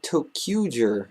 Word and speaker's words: ToQger: the 38th sentai is upon us russia's sentai tokuger in case you don't know how to pronounce that because i don't blame you first